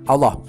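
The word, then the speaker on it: الله: Pada saat diterjemahkan kata YHWH adalah 4 huruf juga, yaitu alif, lam, lam, ha atau ALLH, bacanya Allah, yaitu YHWH itu menurut Yahudi itu sepadan dengan Allah.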